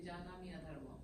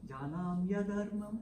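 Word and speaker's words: जानाम्यधर्मं: But how do you say janami adharmam? Janamya dharmam. Janamya dharmam nachame vritti.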